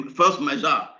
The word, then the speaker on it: force majeure: Okay, force majeure. That's the right pronunciation.